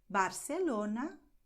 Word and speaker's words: Barcelona: countries in Latin America, you'll hear all the time S when people use these combinations here, okay? So in Mexico, Argentina, Costa Rica, and so on, people are going to say Zaragoza, El Pozo, Pozuelo, Barcelona, Ciudad. And this is correct, okay?